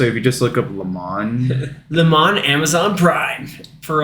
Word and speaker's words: Le Mans: Prime video so if you just look up Le Mans Le Mans Amazon Prime for at least a little while yeah and that's spelled Le space m-a-n-s yes racing is everything